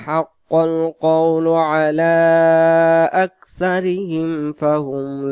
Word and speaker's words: حق: এখানে লাকদ, হাক্কল, হাক্কল, হাক্কাল উচ্চারণ করলে এখানে কফটা কাফ হয়ে যাবে।